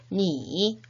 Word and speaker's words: 你: 2인칭의 너, 니, 3인칭의 그 또는 그녀는 발음이 같았었죠.